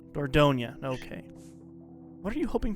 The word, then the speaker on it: Dordogne: Yeah, Dordogne. Dordogne.